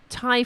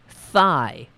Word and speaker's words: Thai: He did an uncanny impression of baseball star Jose Canseco, and according to a friend, he would tell dates that he liked Thai food but would pronounce it thigh.